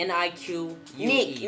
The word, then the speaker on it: Nique: Alright, I don't know how to pronounce Niqua. This. Niqua. Niki? Niki. N-I-Q-U-E. Nique. Unique. You're very unique.